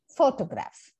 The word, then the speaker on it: photograph: of syllables for example in the word photograph it will before the graph right and which syllable is stressed it is the first syllable so we say photograph photograph so all those of